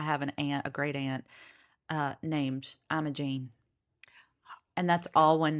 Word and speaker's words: Imogene: It's not Imogene. It's Imogene, which in other places, I want to say like in the UK, they say Imogen, but for her, it's Imogene.